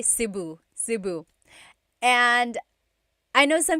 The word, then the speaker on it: Cebu: the Tagalog alphabet, the letter E can be pronounced E or E like the letter I. So, I say Cebu. Cebu. And I know some people say su, but usually it's either Cebu or Sebu.